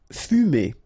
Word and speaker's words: fumer: Fumer. Okay, so U here. U. Fu. Fumer.